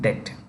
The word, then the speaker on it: debt: Sri Lanka for its debt the bee is silent in debt debt restriction with the